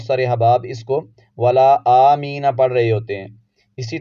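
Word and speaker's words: آمِّينَ: کا ہجے کرتے ہیں۔ حمزہ، میم، کھڑا زبر مد، آم، اس طرح پڑھیں گے۔ آم، میم پر شد ضرور پڑھیں گے۔ میم یا زیر می، آمی، اس طرح سے پڑھیں گے اس کو۔ آمی نہیں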